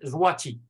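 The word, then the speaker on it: złoty: monnaie nationale c'est bon ça s'écrit que ils sont CPN mais ça se prononce en polonais zwati voici alors je vois-tu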